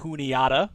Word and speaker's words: Juniata: to playoffs we've got scada going up against juniata which we did get confirmation that is how